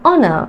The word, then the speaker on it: honor: මෙතන අපි h pronounce කරන්නේ නැහැ. ඔයාලා දන්නවා. It's an honor.